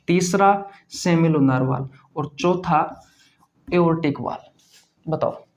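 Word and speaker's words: aortic: तो ओर्टिक, या इसमें आर साइलेंट होता है, जब बोलते हैं ना, तब प्रोनाउंस करते हैं ना, तो आर साइलेंट होता है। तो एओर्टिक या ओर्टिक वाल्व कह सकते हो आप इसे।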